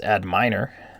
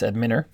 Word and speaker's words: Adminer: But if you click on Database and then click on Adminer, that could also be pronounced Adminer, but I'm going to say it's Adminer.